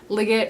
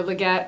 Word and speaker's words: Liggett: But it is The Last Harvest by Kim Liggett, or Leggett, or Legit. She says you can pronounce it legit.